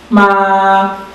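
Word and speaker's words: má: Ele sai aqui do terceiro nível e vai para o quinto.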